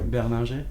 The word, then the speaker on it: Berninger: How would you say that in French? Would it be Berninger? Berninger. Oh. It would sound like that.